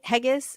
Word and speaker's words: Haggis: Is it Haggis? Haggis is how you say Sky's last name.